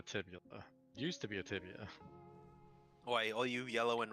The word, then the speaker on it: tibia: Dude, even if you res me, I have a broken tibula. I probably It's fibula and tibia. Oh, I was saying it wrong.